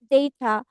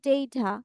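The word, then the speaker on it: data: তাহলে এখানে বেবিতে দেখো same ডেটা ইটস নট ডাটা আমরা কি বলবো ডেটা কি হবে ইটস ডেটা নট ডাটা আর এ সাউন্ডের উচ্চারণটা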